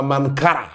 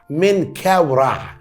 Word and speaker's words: منكاورع: بعض الناس بتنطقها منكرا، منكاورع، منكاورع.